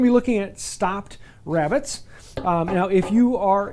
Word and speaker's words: rebate: use british english uh this will be called a rebate um but uh that is just a weird pronunciation of the word rabbit they say so i call them rabbits but if i'd use the word rebate it means the exact same thing it's just a different pronunciation difference donegal high